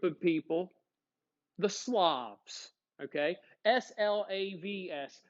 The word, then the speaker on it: Slavs: people the slobs okay s-l-a-v-s slavs not slobs like i don't pick up the stuff in my room slob slav who were the slobs